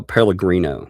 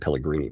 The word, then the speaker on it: Pellegrino: Pellegrino. That's right. I said Pellegrini.